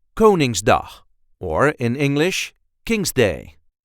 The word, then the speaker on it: Koningsdag: a regular Dutch accent coning D or in English King's Day the pronunciation in Dutch is kinging the first syllable gets the emphasis ging do go ning